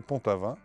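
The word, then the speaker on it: Pont-Aven: on disait Pontavin et qui ont été euh rendu célèbres Ponte Avenes bien sûr de Pontaven et par Gogin. Ce qui fait que à la fin du 19e siècle, ces noms ont été à nouveau empruntés non pas par les francophones de Bretagne comme pour les noms précédents, mais par les Parisiens et qui eux ont prononcé pontaven comme il prononcent Boven.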